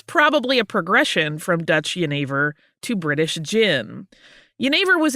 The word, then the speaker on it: jenever: Yeah, because jenever is spelled Genever. So if you're reading it on a page as an English speaker, it looks like it's Genever.